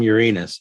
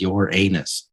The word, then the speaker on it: Uranus: The doo-doo from Uranus. Seriously, are you in third grade? Stop pronouncing the planet as your anus.